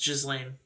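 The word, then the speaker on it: Ghislaine: for all this yeah it's pronounced jizzlane lame i'll pronounce it exactly like it's spelled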